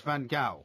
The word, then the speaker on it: Van Gaal: Now we've definitively decided it's Van Gaal. I will pronounce it as I wish to pronounce it, Really?